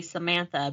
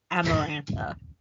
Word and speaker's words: Amarantha: oh it's see it because I kept wanting to say Samantha but it's amarantha keep want to say